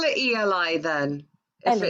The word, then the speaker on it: Eli: And if I write down how it's spelled, it's ELI. So it's literally Eli. As I say it, Ellie. Yeah, we would call it Ellie.